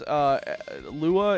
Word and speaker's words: Lua: Please, Lua is just pronounced as a word, not an acronym.